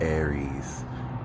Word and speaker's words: Aries: This is the Peace Dealer, and this is for the moon in Aries, which rhymes with scary, because Aries could be rather scary uh, when they're not, but they usually are.